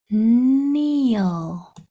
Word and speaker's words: kneel: all right we know this k n says n e e says e